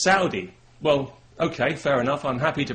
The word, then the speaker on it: Saudi: People have said to me, you know, you're pronouncing that wrong. It's not Saudi, it's Saudi.